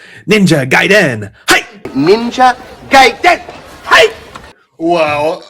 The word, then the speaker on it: Ninja Gaiden: You're not pronouncing it right. It's Ninja Gaiden.